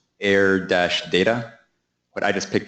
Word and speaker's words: AIRR: kind of awkward but the pronunciation of error that's kind of good so I think we should have Community consensus that is pronounced air it be the open air